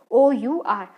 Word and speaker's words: hour: OUR, अगर vowel से हो तो एन, और अगर ये इसको प्रोनाउंसिएशन HOUR ही होती तो हम अ लगाते हैं, लेकिन ऐसा नहीं है, इसकी प्रोनाउंसिएशन क्या है? OUR।